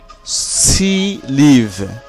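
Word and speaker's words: six livres: Consonant দিয়ে শুরু হয় তাহলে এই ইক্সের কোনো উচ্চারণ হবে না। যেমন সি, লিভ।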